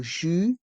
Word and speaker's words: jus: jus de fruit pressé le mot jus se prononce sans le S car le s est mué fruit le thé de